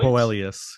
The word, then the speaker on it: Boelius: Boelius. Yeah. Look at that. First try, Suomi. Say it as it's spelled.